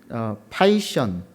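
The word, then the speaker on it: Python: 특별한 광고가 하나 있는데 컴퓨터 프로그램 언어인 파이션, 제가 일부에는 이걸 피톤이라고 읽었다가 누군가 수정을 해주셨는데 파이션이라고 하는 프로그램 언어가 있답니다.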